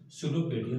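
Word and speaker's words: pseudopodia: Finger line structures called सुडोपेडिया। देखिए यहाँ पे लिखा है पी, शुरुआत हो रही है पी से, बट पी साइलेंट रहता है, इसको पढ़ते नहीं है, इसको पढ़ते क्या है? सुडोपोडिया और फॉल्स फीट।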